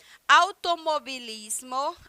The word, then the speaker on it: automovilismo: nessa região automobilismo automobilismo que se escreve automovilismo mas se pronuncia da mesma forma como se escreve em português né que é automobilismo porque o v em espanhol tem esse som de B bilhar bilhar quem é